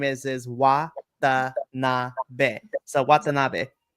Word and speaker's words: Watanabe: So Watanabe. Watanabe.